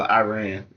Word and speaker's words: Iran: Um our president, our president just dropping bombs over Iran and everything that's coming up to that.